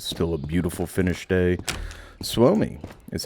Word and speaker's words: Suomi: Suomi is how you say Finland in Finnish.